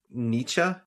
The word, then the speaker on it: Nietzsche: oh, kind of random, but you remember a few weeks ago we were talking about the philosopher Friedrich Nietzsche? Yes. And I said that I was always pronouncing it Nietzsche.